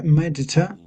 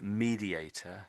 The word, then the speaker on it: mediator: So, the word you're talking about is mediator. This one is mediator.